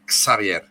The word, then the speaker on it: Xavier: que Cómo se pronuncia bueno en francés mi nombre se pronuncia en en catalán se pronuncia eh Xavier Okay yo me voy